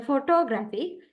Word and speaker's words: photography: the weak stress uh for example Photography in here primary stress in on gra and secondary stress is on PO uh and next one